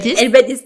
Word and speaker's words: الباديس: دونك تعطينا واحد لانتروداكسيون ليك الباديز. وي الباديز نطقها صحيحه.